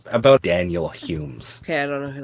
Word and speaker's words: Home: it's spelled h o m e but it's pronounced Humes never seen this guy in my life well